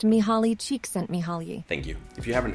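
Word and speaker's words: Csikszentmihalyi: came Flow by Freddy it's pronounced me holly cheek sent me holly thank you if you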